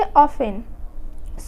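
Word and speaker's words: often: Listen, यहाँ एफ के बाद आया हुआ है टी, तो यहाँ जो है टी हम लोग का साइलेंट हो जाएगा। जैसे ऑफन, सॉफन।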